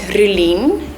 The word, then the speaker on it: Rolene: Because my name is Rolene, that's how you pronounce it.